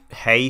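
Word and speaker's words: hej: of damage it's pronounced hey still oh sir h e j is still said like hey is that right oh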